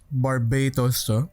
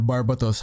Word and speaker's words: Barbatos: around August september-ish uh mg Barbados or barbatos how however you want to pronounce it from Iron blooded